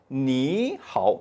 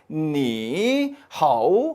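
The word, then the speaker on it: 你好: 위해서 부드럽게 만들기 위해서 앞에 삼성 삼성 일 경우는 앞의 삼성을 이성으로 발음 해준다 란 하나의 규칙을 만든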